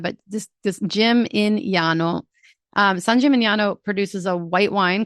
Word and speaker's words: San Gimignano: My mom says San Chimichanga. My mom kills Italian. It's so bad. So, San Gimignano. It's got the GN. It's going to mess with your head, but just just Jim-in-yano.